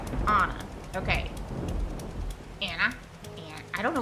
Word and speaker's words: Anne: Which my name is Anne, not Anna. And it's pronounced like the Dutch, which sounds like Anna.